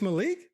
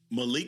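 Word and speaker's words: Maalik: It's not Malik. Malik Murphy. It's Malik. That's spelled. Yes. Okay. Yes. M-A-A-L-I-K.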